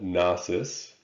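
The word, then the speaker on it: Knossos: capital city was called nasus the k is silent and their success was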